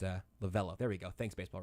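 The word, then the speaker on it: Lovullo: tori levolu lavula you might go it's uh lavello there we go thanks baseball reference pronunciation's on this show you go okay well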